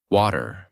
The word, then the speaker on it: water: Many learners pronounce every T in the same way. Strong, clear, exact. For example, water, better, city, pretty. They say each word with a hard t sound. Water, better, sit, pret. This is not how most Americans say these words in natural speech. In American accent, the T in the middle of many words often becomes a soft D sound.